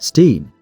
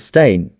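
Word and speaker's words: Berenstain: It was spelled beonstein pronounced steam. The evidence says stain.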